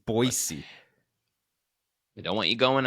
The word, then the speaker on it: Boise: stay around here for a few days it's boisey I don't want you going out to one